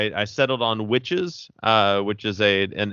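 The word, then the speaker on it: Wytches: I settled on witches uh which is a an image book by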